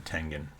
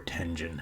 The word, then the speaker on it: Tengen: uh two-page ad from tengen or tenjin however you want to pronounce it i thought i always thought it was tengen though um who